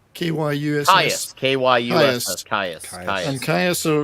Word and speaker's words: Kyuss: Well, no, this is I can never pronounce it. Caius, Kyuss. Caius.